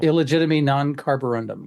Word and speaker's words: Illegitimi non carborundum: Did I say that right? No. Illegitimi non-carborundum. I did say it right.